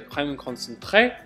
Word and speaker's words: Crème Concentré: It's called Crème Concentré. That's how I like to pronounce it in my French accent.